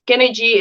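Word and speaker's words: Skynergy: And then we have Skinergy MD also, and it's Skinergy. It's spelled SKYN, but it's still Skinergy MD.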